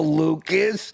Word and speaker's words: Lucas: Hello, Lucas. Rhymes with mucus.